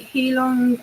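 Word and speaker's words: Heilung: I always say to people, "Oh, do you want to come and see like Heelong and Wardruna?"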